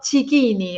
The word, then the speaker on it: Cicchini: Bueno, desde Milán, contacto con Aldo Cicchini, ahora sí pronunciado correctamente en italiano, con esta nueva historia de vida.